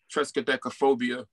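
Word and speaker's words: triskaidekaphobia: It's Tresca or Triska, but it's Tresca, Trescadecaphobia.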